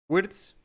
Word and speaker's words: Gvirtz: Y bueno, para este episodio tenemos como invitado a Manuel Wirtz, así se pronuncia, ¿no? Spirits, sí, Wirtz, es un apellido complicado, Wirtz, sí.